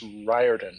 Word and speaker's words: Riordan: The pronunciation of my last name is Riordan, Riordan.